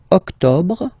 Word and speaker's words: octobre: Don't insist on the final E. Octobre, octobre.